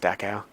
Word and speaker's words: Dachau: Pretty sure it's pronounced Dachau.